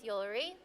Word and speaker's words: Yuri: name my name is yuri what jewelry your name's jewellery yeah ryan's with jewelry well i know it rhymes with jewelry wow that's some name